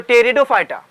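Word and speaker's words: Pteridophyta: ब्रायोफाइटा और टियरों fighter P silent होता है इसके अंदर मैं इसके अंदर देखो फाइट के अंदर जो पी होता है वो साइलेंट होता है ठीक है पी नहीं पढ़ने का अपन लिखना होता है ये साइलेंट होता है तो टेरिडोफाइटा तो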